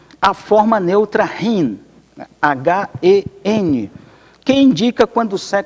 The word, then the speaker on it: hen: a forma neutra Rin h e n que indica quando é desconhecido transgênero ou quando não se quer especificar de quem você está falando o pronome hen ou hin eh a pronúncia foi proposto inicialmente nos